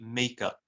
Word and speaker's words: makeup: So yeah, as a noun, it would be makeup.